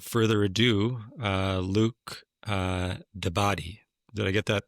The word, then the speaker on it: d'Abadie: And uh uh without further ado, uh Luke uh Daddy, did I get that pronunciation right, Luke, for your last name, bro? Yeah, it's it's close enough. It's a tricky one. Dabbed.